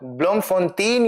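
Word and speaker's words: Bloemfontein: ब्लमफोंतीन या ब्लमफोंते जो आप इसको बोलना चाहो प्रोनाउंस करना चाहो।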